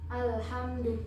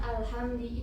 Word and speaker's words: alhamdulillah: Misal kita salah dalam melafazkan harokatnya. Misal alhamdulillah itu ya kan, alhamdulillah kita bacanya alhamdi, itu nanti sudah akan berbeda artinya gitu.